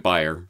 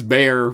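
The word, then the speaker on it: Bayer: just say you know the CEO of buyer pronounces it buyer so I'm gonna go with buyer I know it's bare but I'm gonna say buyer I know it's and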